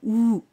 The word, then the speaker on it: ou: O en francés es ou, se pronuncia como la O española, ou.